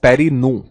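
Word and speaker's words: fondaparinux: the word parry nooks x is silent so it is known as parry nu so we can write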